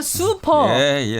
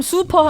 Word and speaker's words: 수퍼: 슈퍼가 아니라 수퍼. 본토 발음 수퍼 하면 그게 물수자예요.